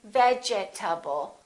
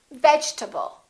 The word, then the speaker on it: vegetable: In this case, the E is dropped. We don't say vegetable. A lot of my students say vegetable or vegetable. This E disappears, and this A is reduced because it's part of the unstressed syllable, and we say vegetable.